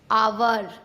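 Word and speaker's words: hour: जब ओ से पहले एच आता है तब हमेशा एच साइलेंट होता है। जैसे ऑनर, ऑनेस्ट, आवर, इको।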